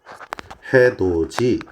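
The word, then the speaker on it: 해돋이: 해도지 이런 놈들입니다 자 발음이 구지 가치 해도지 이런 식으로 발음이 났죠 지금 보시게 되면 어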